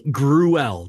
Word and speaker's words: Gruelle: Artist Johnny Gruelle, that's how it's spelled, Gruell. It's like Cruella, but yeah.